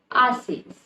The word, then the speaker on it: haces: Now remember, haces start with H, which means the H will be silent and you will read it as haces.